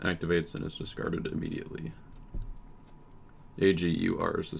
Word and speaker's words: Agur: AGUR is the spelling if you need that. How is he pronounced?